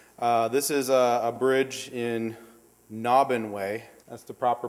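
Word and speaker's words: Naubinway: type of superstructure this is a bridge in nahban way that's the proper pronunciation it's up about 45 minutes west of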